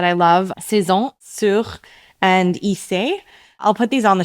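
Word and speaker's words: Ysé: Isey is spelled YSE.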